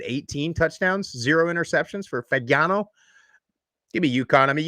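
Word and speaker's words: Fagnano: How do you pronounce the quarterback's name, Jeff? Fagano.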